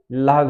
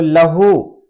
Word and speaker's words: لہو: तो लहू और लहव दोनों को बोलने का तरीका अलग है। लहू की जो हिज्जे है लाम जबर ला, हे वाव पेश हु, तो ये लहू हो जाएगा।